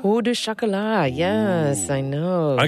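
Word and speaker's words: pain au chocolat: Pau du chocolat? Pau du chocolat, yes.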